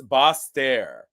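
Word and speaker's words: Basseterre: um I was uh trying to figure out the pronunciation and it's boss stare so I know I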